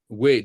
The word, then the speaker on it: Waze: It's spelled WAZE as a play on WAYS, Waze. Yeah, we call it WAZ.